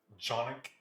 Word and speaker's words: Canik: Do any of you have a Canik, or actually, I think the proper pronunciation is Jonik, because it's Turkish.